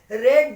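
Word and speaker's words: read: आई रेड that book, देखो रीड को second form में रेड बोलते हैं, स्पेलिंग सेम रहती है।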